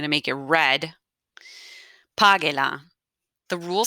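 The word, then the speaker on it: págela: Divide page into syllables. I'm going to divide it into syllables. Pa, ge. Ge is my first syllable. Pa is my second to last syllable.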